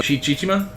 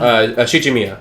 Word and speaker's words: Shichimiya: couple episodes where we'd look in on Chichima. I keep saying it wrong. Shichimiya, yeah.